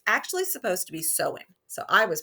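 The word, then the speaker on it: Samhain: the Celtic Festival and I was calling it Sam hame because that's how it's it looked to me it's actually supposed to be sewing so I was pronouncing it wrong I should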